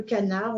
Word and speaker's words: canard: Le crapaud, on ne prononce pas le D, comme le canard, on ne prononce pas le D.